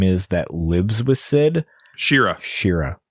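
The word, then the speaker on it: Shera: Shira, that's it. Or Shara, or whatever the hell it was. However you want to pronounce it. We always did Shara, but yeah, Shira sounds like it could absolutely be right.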